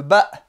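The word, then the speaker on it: ب: Le ba. Le B. Comme le B français.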